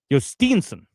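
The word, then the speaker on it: Jhostynxon: Steenson. Okay, I never heard his name pronounced properly then.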